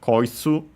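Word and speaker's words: こいつ: First and foremost, we have koitsu, which is also part of the Koso Ado series. Usually, and yeah, it's unaccented, just like most of the Koso A words.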